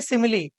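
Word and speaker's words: simile: तो पहला टाइप है सिमिली। ये स्माइल नहीं है, इसको सिमिली पढ़ते हैं। ठीक है, प्रोनाउंसिएशन इसका सिमिली होता है।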